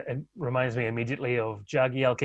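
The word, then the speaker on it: Jagielka: are not always used to hearing the authentic pronunciation uh it reminds me immediately of jagi alka yagi alka yeah that's right well again players don't i'm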